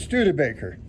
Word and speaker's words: Studebaker: I'm not 100% sure on the pronunciation myself. It's Studebaker. Studebaker. Yeah, they made cars, but before they did that, they made carriages.